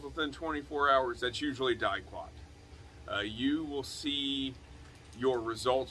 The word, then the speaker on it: Diquat: I don't know if Diquat is how you pronounce it.